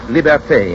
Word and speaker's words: liberté: Liberty is pronounced liberté in Haiti and Martinique, libertad in the islands that still keep the Spanish tongue.